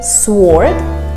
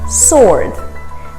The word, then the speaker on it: sword: wars a sword sword we don't say sword it's sword another silent letter in this case it's w don't ask me why there are so many silent letters honestly we don't have the answers to everything even as english teachers that's just the way you pronounce it sword our next word is